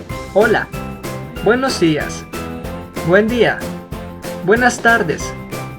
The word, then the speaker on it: buenas tardes: Lo correcto es decir buenas tardes, no buenos tardes.